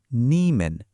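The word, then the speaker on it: 你们: খুব সহজ তখন আমরা বলব নিমেন যার উচ্চারণ নিম্যান এর মানে হলো তোমরা বা আপনারা অর্থাৎ ইউ এর প্লুরাল ফর্ম।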